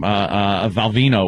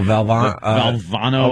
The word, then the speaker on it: Valvano: Valvino was still coaching. Oh, Valvano or Val. You just the dead guy. Yeah. The dead guy. Valvano, right? Yeah, you mispronounced his name to a point.